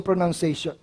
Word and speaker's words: pronunciation: And then, of course, is yung pronunciation. May mali dito sa word na pronunciation. Ano mali dyan? Aha, walang O dapat yan. Pronoun lang, hindi pronoun.